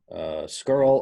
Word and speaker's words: scurl: okay so and again this is pronounced skirl or scaler girl so this is a